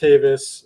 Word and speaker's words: Tavis: is my name my last name is tavis it's pronounced davis um and uh yeah